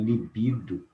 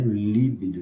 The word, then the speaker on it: libido: Nas palavras oxítonas, libido e não líbido, né?